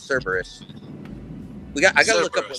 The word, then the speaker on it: Cerberus: Nobody can pronounce it, including me the first time, but it's Cerberus.